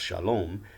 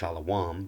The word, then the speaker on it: Shalom: to our ancient evidence understood to be pronounced Shalom they would GMs members would say it's pronounced Allah WOM but whatever the case